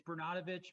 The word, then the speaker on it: Bernatovitz: show thank you chris appreciate it yeah it's bernanovich but it's been mispronounced every single time anybody's giving it a